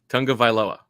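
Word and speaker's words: Tagovailoa: the name incorrectly yeah okay how do you pronounce the last name Tong of vioa okay okay that that deserves such a uh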